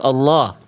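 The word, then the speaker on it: اللَّه: Huruf lam pada lafaz Allah ketika didahului oleh huruf berharakat fathah atau dhammah, lamnya dibaca tebal. Tapi kalau lafaz Allahnya didahului oleh harakat kasrah, maka lafaz ee apa? Lam pada lafzul jalalahnya, lam jalalahnya, lam pada lafaz allahnya dibaca tipis.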